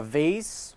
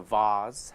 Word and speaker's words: vase: the weekend number six a vase or a vase however you want to pronunciate that a if you want to give it a long a or a short a um but a vase